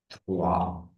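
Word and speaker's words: trois: So one is pronounced as u n is then two is the three is thwah four is cat.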